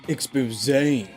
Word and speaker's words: exposé: It's pronounced exposé.